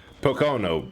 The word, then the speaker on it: Pocono: a different track to P to Pok P Pocono Raceway there we go that's how you say